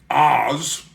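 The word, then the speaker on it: Aahz: But before he dies, he has transported one of his wizard buddies from another dimension, Oz, which is spelled A-A-H-Z, who is a demon from the dimension of Perv.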